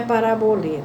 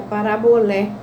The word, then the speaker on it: parabolé: Não é parabolê, tá? É parabolé. Por quê? Porque quando, em francês, e aqui em francês está com acento circunflexo, ou em grego aparece acento circunflexo, a gente pronuncia acento agudo.